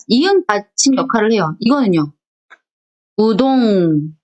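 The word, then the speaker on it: うどん: 우동, 우돈, 뭐가 편해요? 우동이 편하죠. 대신 이응을 길게 발음하는 거예요.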